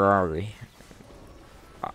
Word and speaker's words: Ahri: For Ahri. I pronounce it like Ferrari.